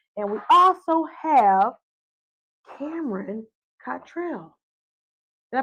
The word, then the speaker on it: Cottrell: Wendy Webster Jackson, my sister, and we also have Cameron Cottrell. Did I pronounce it correctly? Yes, I did. I was going to say. Sounds like Cotton Trail.